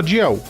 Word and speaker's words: Dalziel: E saber que não é Dalziel que se fala, né? É o nome mais confuso da história. Se escreve Dalziel e se fala Diel.